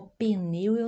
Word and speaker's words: pneu: pneu do carro o pneu neumático aqui o p é mudo nós chamamos mas pronunciamos como tivesse uma e na pronúncia tá o mecânico conserta o